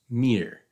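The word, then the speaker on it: мир: identical to the word for world or Cosmos Mir pronounce Mir works better if you're seeing it on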